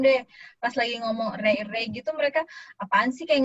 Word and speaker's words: array: sebenarnya pronunciation-nya bacanya apa tuh? Array. Array. Ya, bacanya array ya.